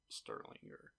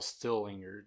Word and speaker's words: Stillinger: guests, Lena and Ina Sterlinger. Let me see it. I want to see how they spell their Well, Stillinger, that's how you say it.